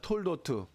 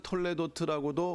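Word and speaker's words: תולדות: 톨도트. 이전에는 톨레도트라고도 우리가 발음을 했지만 톨도트.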